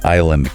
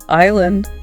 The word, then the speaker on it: Island: gives this list of common words with silent letters yeah like Wednesday Island comb yeah Island that Des just seems